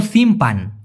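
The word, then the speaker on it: simpan: রেখে দেওয়া সেটা হল সিমপান সিমপান পেনি সিমপান কাটাওয়া এই কলমটা আপনার কাছে রাখেন সেই ক্ষেত্রে হবে সিমপান যেই পান আমরা খাই সেই পানের মত হ্যা আর রাস্তার মোড়ের ক্ষেত্রে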